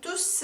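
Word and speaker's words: tous: 형태라 9분이 되는 거에요 여기서 의 발음은 투 스 라고 s 발음을 해 주셔야 됩니다 그래서 투스 뚫 수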